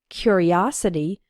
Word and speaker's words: curiosity: a curious boy and in the noun form curiosity the third syllable is strong us his curiosity got